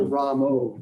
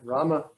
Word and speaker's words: Rama: You should chant Rama, not Ramo. So which one is correct? Rama. Ram. It's yeah. The short A in Sanskrit is pronounced like the U in but. It's Krishna. Rama. And the Rama has got the line over, so it's Ra. It's Yeah. but the is the end.